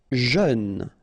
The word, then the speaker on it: jeune: Jeune, final E not pronounced, but then EU together, jeune, jeune.